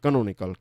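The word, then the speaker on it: canonical: कैनोनिकल इसको pronounce करते हैं कैनोनिकल। कैनोन शब्द है और कैनोन में से फिर इसको कहते हैं कैनोनिकल।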